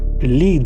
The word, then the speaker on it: Led: British pronunciation of lead Americans would be confused had they gone with l e a d so with the scene